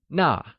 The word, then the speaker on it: 那: That translates as 那, which is also pronounced using the falling tone.